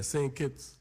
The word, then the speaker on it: Saint Kitts: you come from if I'm saying it right sing keeps yeah same kids same kids uh the island isn't even think